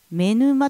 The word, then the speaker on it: 女沼: 奥にある目沼という、女の沼と書いて目沼というんですけ